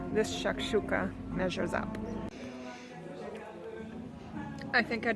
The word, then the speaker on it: shakshuka: And my search for the perfect shakshuka continues. Or shakshuka, apparently it's properly pronounced.